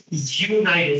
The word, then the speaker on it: United: When you say United States, the first sound is actually the sound of a Y. Like yes, right? United, yes. It's a Y sound.